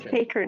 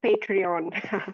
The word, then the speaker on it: patron: Yeah, it's patron, not Patreon.